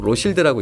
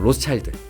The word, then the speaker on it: Rothschild: 어떻게 보면 발음 차이죠 프랑스는 보통 로쉴드라고 읽는다 그러고 영어는 뭐 보통 로스차일드 이렇게 읽는다고 하니까 뭐 다 같은 말이니까